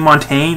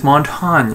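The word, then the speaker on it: Montagne: me with you mean Montaigne it's like no the way you extra pronounce it is montón yeah I don't know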